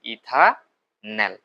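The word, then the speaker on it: ইথানাল: যেটার নাম দেখো সিচও থাকলে এটার উচ্চারণ শেষে নেল হয়। যেহেতু দুই কার্বন তাহলে এটা কি হবে? ইথানল।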